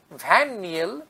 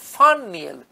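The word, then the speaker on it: van Niel: আরেকজন American microbiologist ভ্যান নিয়েল লেখা হয়, কিন্তু এর প্রকৃত উচ্চারণ হচ্ছে ফান নিয়েল, ভিএন ভ্যান, এক্ষেত্রে হচ্ছে ফান, ফয়াকার ন ফান, who first glimpse the role that light plays in photosynthesis.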